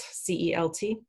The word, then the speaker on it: Celt: my contemporary romance novels i used the name celt c-e-l-t uh and it's it in celtic it can print it be pronounced celtic or celtic and i pronounce it